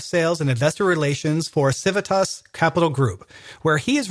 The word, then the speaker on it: Civitas: very quickly is that the pronunciation of the name is something that comes up quite a bit in different parts of the world. The pronunciation can vary depending on where you're from. So in Brazil, people refer to it as Civitas. You hear Civitas, Civitas, a bunch of different pronunciations, but it's actually Civitas.